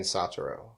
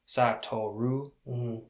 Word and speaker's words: Satoru: i mean i guess it's spelled sataru but they were saying satoru right so it's i'm just going to go with how they were enunciating it in the show right that's good no i agree because in the show in english they were saying satoru but it's spelled s-a-t-o-r-u which looks like sattoru but i didn't watch